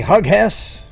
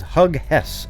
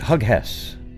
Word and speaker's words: Hughes: I'm going to make a t-shirt now that says Hug Hess on it, because nobody's ever seen the name Hughes before, and therefore, because you haven't seen it before, you immediately pronounce it Hug Hess.